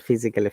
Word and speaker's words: physically: Physically, Same, A should be ignored, not physically, physically. You see, physically. the rule is that ALLY at the end, Okay, and we pronounce A in that case. So it's physically.